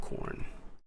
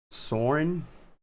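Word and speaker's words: Xorn: Did you know there is a X-Men character named Corn, but spelled with an X? So Soren, but some people pronounce it corn. I'm not exactly sure what is the actual pronunciation.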